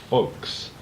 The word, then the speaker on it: Ffolkes: The particular DVD I have of it is called FFolkes, and it's spelled with 2 F's, as you can see there on the packaging. The reason being is, of course, the character that Roger Moore plays. His name is Rufus Folks, and that's the spelling of his surname.